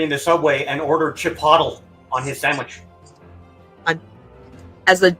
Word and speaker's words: Chipotle: He's like, "I want Chipotle." They're like, "Oh, you mean Chipotle." He's like, "Is that how it's pronounced?"